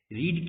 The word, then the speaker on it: read: तो फ्रेंड्स, हम यहाँ पे देख रहे हैं कि स्पेलिंग जो है रीड है, लेकिन सेकंड फॉर्म और थर्ड फॉर्म में उसका प्रोनाउंसिएशन जो है, उच्चारण है, वो रेड हो जाता है।